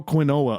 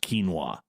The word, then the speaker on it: quinoa: person number two people who eat kale throw Queen Ola on there yes I know it's pronounced quinoa hmm oh and for their beef crumbles the